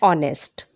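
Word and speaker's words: honest: Second, if अ word begins with ए silent H. एन का प्रयोग ऐसे शब्द जिनमें एच जो है वो साइलेंट होता है. एन is used before it. For example, N आर, एन ऑनेस्ट मैन.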